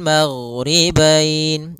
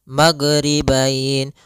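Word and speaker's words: المغربين: terbaca kemudian di sini huruf gain hati-hati dalam pelafalannya jangan sampai memantul jangan magribain warabbul magribain sampai dia memantul Nah karena huruf gain tidak ada sifat Qalqalah tidak ada sifat pantulan karena huruf gain ini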